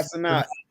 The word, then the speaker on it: Cenat: Is it Sinnott? Kai Cenat.